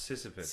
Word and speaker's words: Sisyphus: It's pronounced Sisyphus.